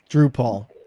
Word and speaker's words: Drupal: The original website was uh how do you pronounce it? Drupal Drupal.